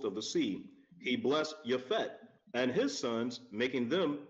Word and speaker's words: Japheth: He blessed Japhet and his sons, making them entirely white. Japhet. Now you heard him pronounce it Japhet, because there was no such thing as the letter J.